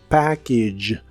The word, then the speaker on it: package: que significan el paquete el final de la palabra package se pronuncia como ig package son el sonido I corto y el final es el sonido J J que es el que usamos para la palabra George aquí te lo escribiré